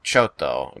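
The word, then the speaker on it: ちょっと: Japanese in them which when it's spoken in the language usually there's like a small pause in your voice and then you hit the consonant hard like chotto the Japanese word chotto is c h o t t if you spell it in Roman letters um and so when you say it's chto uh but when it's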